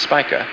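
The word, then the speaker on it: Spica: leaving the heavens vergus Virgo's brightest star is pronounced spika and boes brightest star is pronounced Arcturus Libra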